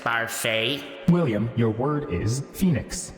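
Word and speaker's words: Barfée: It's pronounced Barfey.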